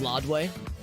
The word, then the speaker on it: Ladue: Whenever I drive through Ladue, my old GPS on my old phone used to pronounce it as Lodway, which actually might... Let me think about this. Actually, that might be the actual pronunciation, like the French pronunciation.